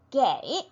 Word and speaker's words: 给: 누구누구에게 주다, 주다라는 단어 게 네, 줄 급자 있지요. 게라고 발음이 됩니다.